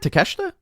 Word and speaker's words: Takeshita: three ring of honor world champion claudio against takeshita did i say it right to kesha yeah he said it right okay okay good